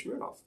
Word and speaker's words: Smirnoff: Because the actual pronunciation is Smirnoff. I've always heard Smirnoff. Yes, well, that's because this is a very Western way of pronouncing it. Smirnoff. Probably Smirnoff is even more to the point.